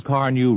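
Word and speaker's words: Carnu: Chances are your service station, auto supply store, or regular wax dealer has Johnson's Car New right now waiting for you to ask for it. It's spelled C-A-R-N-U. Car New.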